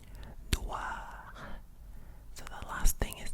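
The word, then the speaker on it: Édouard: Edouard, Edouard. So the D at the end is silent. You do not say Edouard. No. We say A. Edouard.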